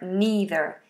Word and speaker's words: neither: either and neither so in America this American English these are either and neither with a long e either neither in British English it's an